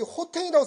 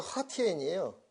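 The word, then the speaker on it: 和田: 여기 호텐이라고 써진 데가 허티엔이에요. 중국 발음으로.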